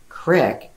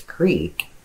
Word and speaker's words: creek: You don't say crick because it's creek. A lot of people are like, hey, we went down to the creek. Okay, it's creek.